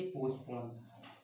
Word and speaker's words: postpone: पुट यानी वैसे रखना होता है, लेकिन पुट ऑफ की मीनिंग क्या होती है, पोस्टपोन, POSTPONE, इसे पोस्टपोन बोलते हैं, टी साइलेंट रहता है, ठीक है।